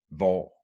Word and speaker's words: hvor: In this particular combination, the H is always silent. And it goes for a lot of these question words that we use in Danish. Hvornår, hvad, hvem, hvor, or hvordan.